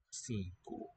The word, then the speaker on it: cinco: Cinco. N nasalizes that first vowel. And the second is raised from O to U.